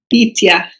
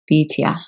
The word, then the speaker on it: Bityah: And I would love to hear it pronounced well. Bityah. Bityah.